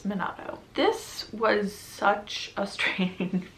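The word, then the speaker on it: Minato: is confessions by kenne minatto i remembered i said it wrong in my tbr so it's monado this was such a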